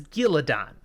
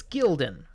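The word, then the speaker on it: Galldrian: He says Gillidan. There is no vowel between the L and D. It's Gildan or Gildan.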